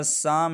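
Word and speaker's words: psalm: इसलिए हमने इस पी को क्या किया है, साइलेंट रखा है, हमने नेमोनिया पढ़ा है। इसी तरह साम है, एस से पहले पी आ चुका है, तो इसलिए हमने पी को साइलेंट रखा है।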